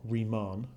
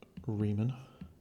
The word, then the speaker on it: Riemann: say it's the left handed or right hand Riemann sums Riemann Raymond claiming I know it's an imprint separately no it's not Ramon that's not right and it's not re men